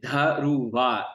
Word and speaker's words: Dhruva: Yeah, it's actually pronounced Dhruva. The V is silent and the D is enunciated, Dhruva, and it's a South Indian name.